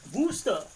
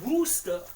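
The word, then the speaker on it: Worcester: Now it's called Wooster. Woo. I could not believe it myself either. It's worooster. Like why would you call it Wooster?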